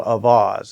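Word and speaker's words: Auxvasse: a little town in Missouri Central Missouri called avas and it's spelled Au ux V SS and that's right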